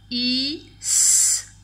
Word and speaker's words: fils: Et pour finir, un, attention le L ne se lit pas, fils, fils, un fils, c'est le garçon d'un papa ou d'une maman, un fils.